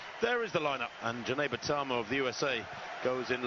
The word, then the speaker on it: Jeneba Tarmoh: TARMOH of the USA, Jeneba TARMOH, and it is pronounced Jeneba TARMOH, actually, not Jeneba or Geneva.